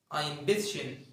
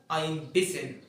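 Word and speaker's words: ein bisschen: ما هي كده عادي ممكن تقول اينبشن يعني ما تنطقش اينشن تنطق الشين ما تنطقش السين ممكن تعكس تنطق السين وما تنطقش الشين تقول اينبسن اينبسن الالمان زي ما انت عجبك تنطق الثلاثه صح بس غالبا الالمان بينطقوها اينبسن اينبسن ينطقوا ما ينطقوش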